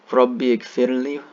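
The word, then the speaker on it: رب اغفر لي: It says, Rabbi gfirli, Rabbi gfirli, Rabbi gfirli. This alif is not pronounced when you combine them like that.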